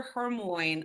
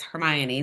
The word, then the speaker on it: Hermione: showing my age um like hermion I called her Hermoine the first four books because it does not explain how to say her name until the fourth book until it's like it's Hermione so yeah if you